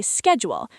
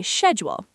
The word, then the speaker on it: schedule: Americans say schedule. British say schedule.